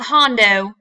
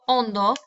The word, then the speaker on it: hondo: It's not hondo. Okay, remember the H is silent. El plato hondo means bowl.